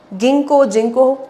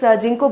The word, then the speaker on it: Ginkgo: Ginkgo. My professor taught me as Ginkgo, that's how I pronounce it. But actually I think it's Ginkgo biloba.